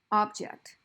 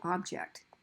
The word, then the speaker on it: object: So object, that's a thing. Object, that's a verb.